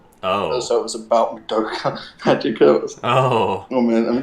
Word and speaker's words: Madoka Magica: Which is Madoku's Magic Booze and JoJo's Bizarre Adventures. I know, it's pronounced Madoka Magica.